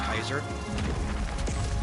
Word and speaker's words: Caesar: Like, some people do pronounce it the modern way Caesar, some people actually pronounce it closer to the older way, like Kaiser.